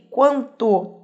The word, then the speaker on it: quanto: Quanto, aí sim, esse U tem som.